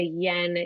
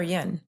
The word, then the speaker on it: yin: And and did you call it yen or yen? I probably pronounced it wrong, but yen.